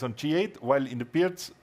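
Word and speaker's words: Pirc: It's not perk. It's not pronounced perk because it's a Slovenian Grandmaster, and it's Pirt's, like Pirt's, P-E-E-R-T-S, Pirt's, something like this, something like that.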